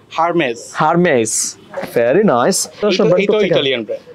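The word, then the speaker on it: Hermès: আপনি একটু বলে দেন এই ব্র্যান্ডের নাম কি হারমেজ হারমেজ ভেরি নাইস এটা ইটালিয়ান ব্র্যান্ড তাই এই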